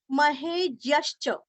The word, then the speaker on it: महेज्यश्च: महेज्यश्च ज आधा ज और य, आगे आधा श और च पूरा, ज्यश्च महेज्यश्च।